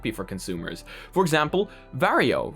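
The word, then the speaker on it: Varjo: for consumers for example vario right now which apparently is the correct way to pronounce it and not vargo is now going to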